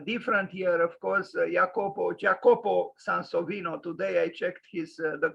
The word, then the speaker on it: Jacopo Sansovino: 27 but uh different year of course jacobo jacopo san sovino today i checked his the correct pronunciation and apparently jacopo sansovino died so let's